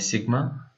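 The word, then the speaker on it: sigma: और ये इसको आप अगर प्रोनाउंस करना चाहें तो प्रोनाउंस एज सिग्मा, इसको सिग्मा से हम उसको प्रोनाउंस करते हैं, सिग्मा है, ठीक है।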